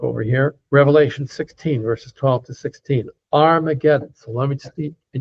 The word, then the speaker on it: Armageddon: So um in Greek, the H is not pronounced. So hargidedon becomes argedon. Armageddon.